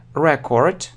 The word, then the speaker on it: record: Record or record. So, how to say it correctly? Record – это запись, существительное. Какое-то письменное удостоверение чего-либо. А record означает записывать. Record.